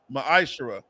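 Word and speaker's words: מַעֲשֵׂר: In the Hebrew, it's pronounced ma'ashara.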